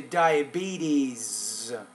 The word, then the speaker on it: diabetes: So instead of sitting in the office, which may raise another health problem such as diabetes. You want to say diabetes. Put the S on the end.